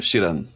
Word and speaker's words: Schramm: Então, sem mais delongas, eu trago para vocês João Francisco Chiran. É assim que pronuncia, meu caro João? Positivo, Chiran.